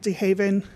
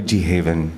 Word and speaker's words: DeHaven: Jomai DeHaven, Jomai DeHav as in Victor, En as in Nancy. Now, am I pronouncing it correctly? Yes, you are. DeHaven.